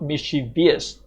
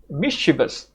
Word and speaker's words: mischievous: So, the pronunciation is not mischie-vious. It's mischievous.